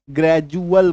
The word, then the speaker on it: gradual: तो यहां पे डी का उच्चारण क्या होगा, ज होगा। ये देखिए ग्रेजुअल नहीं बोलेंगे, ग्रेजुअल बोलेंगे। ग्रेजुअल बोलिएगा तो गलत बोलिएगा, है ना।